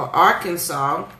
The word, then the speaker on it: Arkansas: the fun fact for Arkansas is why is there s at the end of Arkansas they said it's actually illegal to pronounce the S in Arkansas it's been on the